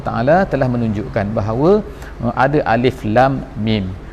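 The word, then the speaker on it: الم: menunjukkan bahwa ada alif.lam.mim Jadi dibacanya ilah mukhoto'ah alif lam dan juga Meme tapi tidak di dengan alam sebagaimana di tempat lain Allah tanda membacakan alam taro Kaifa alamnasroh dan sebagainya tetapi disini dikatakan alif.lam.mim jadi itu nah menunjukkan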